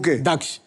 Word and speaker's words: दक्ष: बराबर है सबसे पहले तो मैं आपको थैंक यू बोलूंगा क्योंकि आपने मेरा नाम बिल्कुल सही प्रोनाउंस किया है। दक्ष लोग मुझे मुझे क्या बुलाते हैं? लोग मुझे बुलाते हैं।